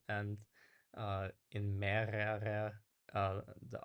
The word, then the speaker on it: mehrere: So the last R is actually pretty much silent, um, but then it's mehrere, right?